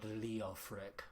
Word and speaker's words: Leofric: Is that her husband, Lord Leofric, which you have to say it like that, or Leofric. Yeah, you have to say it like that, or else it's not worth it.